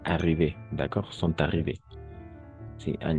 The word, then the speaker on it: arrivés: Incluso si está con la S, vamos solo a pronunciar arrivés.